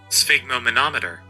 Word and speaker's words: Sphygmomanometer: Spigom-o-motor something. Wait, that's not a word. Sphygmomanometer. It's an instrument for measuring blood pressure.